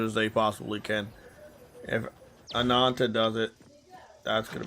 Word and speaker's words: Ananta: Well, I mean, they're going to be on the competitive table because if the Ant I'm saying the name wrong. I forgot how to say it already. Ananta.